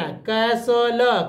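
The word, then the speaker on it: castle: और एली को ल कैसल टी नहीं पढ़ना कैसल कैसल उसी तरह देखिए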